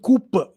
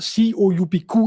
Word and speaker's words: coup: cool or is it Cooper the word c-o-u-p-q is a French word so in French you say coup you don't say coop but yeah if you